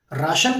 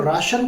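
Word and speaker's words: ration: राशन card बनवा लो, get your राशन card made. अच्छा हिंदी में राशन कार्ड कहते हैं, इंग्लिश में इसको कहा जाता है रेशन। स्पेलिंग सेम रहता है, बोलने का तरीका बदल जाता है।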